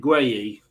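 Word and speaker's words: Guéhi: I can't pronounce that name of that English defender. What, Mark Guay? That's it, Guay.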